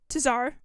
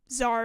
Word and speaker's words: Tsar: The first Cryo Archon was Beli Tsar, or Zar, I guess, is how you say it.